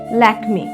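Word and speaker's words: Lakmé: সেই চরিত্রের নাম ছিল লক্ষমী। ফরাসি উচ্চারণে ল্যাকমে। ভারতীয় সংস্কৃতিতে লক্ষ্মী নামের সঙ্গে জড়িয়ে আছে অর্থ সমৃদ্ধি ও সৌন্দর্যের ধারণা।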